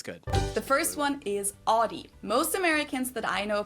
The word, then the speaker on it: Audi: In German, we say Audi. Audi. And there's actually we say Audi. I've never heard anyone call it Audi. It's Audi.